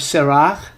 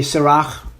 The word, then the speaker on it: Sirach: Well, I would say if it's Hebrew, it's going to be Sirach.